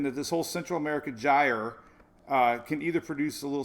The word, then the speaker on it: gyre: it's a central america gyre we learned this last year first I learned how to say it last year because it's it's spelled g yr e i know Louise